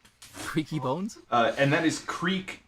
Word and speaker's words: Kriek: And that is Creek as in like the Belgian style, the fermented fruit beer, cherry beer. It's spelled Kriek.